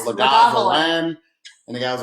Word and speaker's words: Lagavulin: That's how I used to think it was pronounced, though. That's how it went. Remember when I ordered a Lagavulin? Lagavulin.